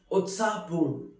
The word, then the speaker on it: उत्साहपूर्ण: Utsahpurn, which is pronounced as Utsahpurn, which means very excited, very lively.